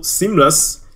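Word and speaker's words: SeamlessR: Also, Seamless, the R is silent.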